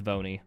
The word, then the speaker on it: V1: looking for no but V1 just spell out one and pronounce it it's vony that's what I'm calling